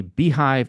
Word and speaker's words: beehiiv: Beehive, if you're going to do it, and it's spelled kind of weird.